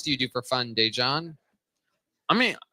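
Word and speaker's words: Daegen: His name is spelled D-A-E, which is day. And then it's G-E-N.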